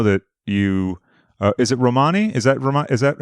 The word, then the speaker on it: Romani: because i know that you uh is it romani is that vermont is that how you pronounce it yeah yeah romney yeah romani so forgive me so uh your background is